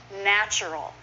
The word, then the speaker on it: natural: Natural is often natural. Just 2 syllables.